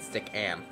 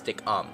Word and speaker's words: Stickam: how you say it, stickam, stickum, I don't know. I get stickam. There's no, people say it's stickum, but it's am, not um.